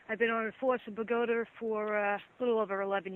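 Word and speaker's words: Bogota: I've been on force in Pagoda for a little over 11 years. Okay. And Pagoda is spelled B-O-G-O-T-A, right? Even though your accent says Pagoter, right?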